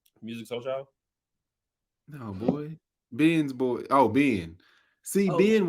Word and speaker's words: Binh: I worked with a lady named Ben. I'm out. No, I did. Swear to God, I did. And it was spelled the same way, B-I-N-H. So, and that was the first time I heard the name Ben, but once I saw it spelled, I'm like, all right, that makes sense.